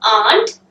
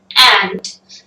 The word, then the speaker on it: aunt: It's not aunt. We generally try to say that it's aunt, but it's ant. Native English speakers say or pronunciate both of these same, A-U-N-T ant and A-N-T ant.